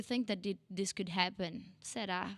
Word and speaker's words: será: Será, it's with us, and we do this again, this open e sound. Será. This R with only one roll in the tongue. Será. No, it's not ra. It's será. Será.